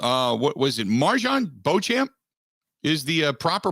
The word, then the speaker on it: Beauchamp: their choice mar uh what was it marjon beauchamp is the uh proper pronunciation yep marjan bojan just making sure they get guys with uh